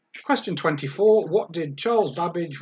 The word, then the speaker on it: Babbage: 24 what did charles babbage rhymes with cabbage invent in 1835 question